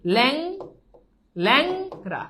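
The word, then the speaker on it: ল্যাংড়া: দেখো এই ল্যাংরাতে দেখো এই যে প্রথমে এককার আছে একার পর দেখো অনুস্বার আছে তাহলে আমরা বলছি অনুস্বার থাকলে এটা জফালা আকার হবে তাহলে এই ল্যাংরা এটার উচ্চারণ কি হবে ল্যাং ল্যাংরা বুঝছো তোমাদেরকে বলে রাখি আধুনিক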